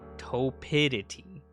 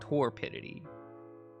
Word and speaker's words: Torpidity: Apparently it means like being sluggish, something like that to toidity, not torpidity. said the R was silent.